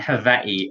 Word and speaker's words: Hawaii: well um either way i pronounce with v sound hawaii oh i love it so